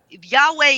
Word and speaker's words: Yahweh: jews right now that if you say yawi they're gonna be like ah no don't say it like i mean i mean there's a few but there are like you can say yahweh is actually the way to say god's name in order not to